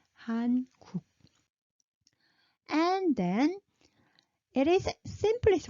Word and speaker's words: 한국: And now what you're learning, and you pronounce it Hankuk. No, we pronounce it 한국.